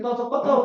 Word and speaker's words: Potopoto: Yes, Potopoto, we call it. It's a Yoruba word. Oh. Yeah. Potopoto. Potopoto, that is the real pronunciation.